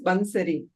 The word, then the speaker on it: Bansari: Well, the meaning is basi but the pron my name is Banseri. So in Gujarati because I'm Gujarati.